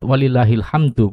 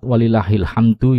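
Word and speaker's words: وَلِلّٰهِ الْحَمْدُ: harokat sebelumnya per-harokat sukun Jadi kesimpulannya kalimat walillahilhamdu boleh dibaca dengan mensukunkan huruf terakhir kalimat walillahilhamdu yaitu Qalqalah Yakni dengan memantulkan huruf dalnya dan juga Ucapkan Min sukun yang berada di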